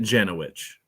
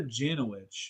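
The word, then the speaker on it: Jankowicz: pronounce your last name nick other people were pronouncing it jenna witch janet witch so nina janowicz yeah you want me to you know tell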